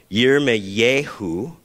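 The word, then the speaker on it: ירמיהו: is a hard one year may yehu or year me that's how you would pronounce it in hebrew with a new mexican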